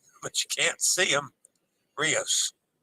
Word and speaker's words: Rios: you can't see them Rios rhymes with dose ribos of Joe Rios